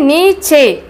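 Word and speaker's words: नीचे: இதே இது நீச்சே, நீச்சே, நீச்சேனா கீழே. எதுக்காக சே தமிழில் எழுதிட்டு மேலே வந்து சிஹெச் போட்டிருக்கேன்னா அதை சே அப்படின்னு உச்சரிப்பு கொடுக்கணும்.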